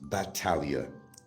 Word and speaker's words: Battaglia: Actually, my name is pronounced Battaglia, the correct pronunciation.